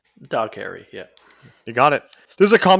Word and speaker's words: Dougherty: Okay, so we got 2007's Trick or Treat, directed by Michael Dougherty, Dog Harry, however the fuck you say his name. Dog Harry, yeah.